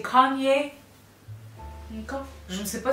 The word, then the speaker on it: Kanye: Il s'appelle Kanye. Kanye. Kenny, Kanu. Non, c'est pas Kenny. C'est Kanye.